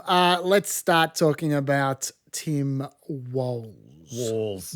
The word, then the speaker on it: Walz: Dave, let's start talking about Tim Walz. Walls. Yes. Yes. And like everyone, I apologize for blatantly mispronouncing it until, you know when I started pronouncing it correctly?